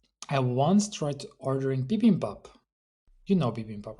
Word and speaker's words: bibimbap: will pronounce it bibimbap, not bibimbap as you did, Mark.